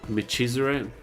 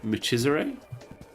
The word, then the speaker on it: Michizure: Chi in Japanese is pronounced just like you would pronounce it when you say Chihuahua. Michizure? Michizure?